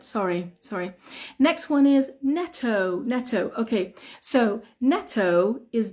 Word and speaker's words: Netto: sorry next one is Neto Neto okay so Neto is Double T yeah Neto is Double T but we don't say Netto we say Neto Neto Neto Neto is